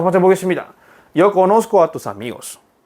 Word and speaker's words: conozco: conozco. 뭔가 conocer 쌍시오 발음이 사라지잖아요. 그래서 그거를 넣어주기 위해서 셋다가 삽입되었습니다.